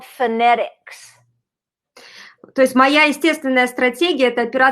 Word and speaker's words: phonetics: So the reality is, if I were going to spell it by sounding it out, I would say F. Phonetics starts with an F, right?